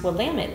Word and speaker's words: Willamette: drinking from Willamette Valley Vineyards and it is pronounced Willamette damn it that's how they lower it really